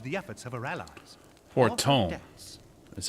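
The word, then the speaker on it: Fortemps: Fortom. That's how you pronounce that.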